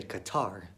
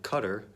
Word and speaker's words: Qatar: pronounce it more like Qatar like see you TT er like Qatar and that's more close to the Arabic pronunciation now people that I've